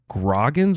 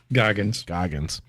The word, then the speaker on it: Goggins: Walton Groggins or Goggins? I forget. Goggins.